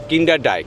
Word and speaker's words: Kinderdijk: আর আজকে যেখানে যাব সেটার উচ্চারণ আরেকবার বল। কিন্ডারডাই। কিন্তু স্পেলিংটা যদি দেখেন আমি অন দা স্ক্রিন লিখে দিচ্ছি। স্পেলিং এর সঙ্গে উচ্চারণের কোন মিল নেই।